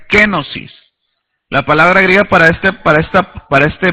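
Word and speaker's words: κένωσις: La palabra aquí, rebajarse, o renunciar, es una palabra griega muy interesante que se pronuncia kenosis.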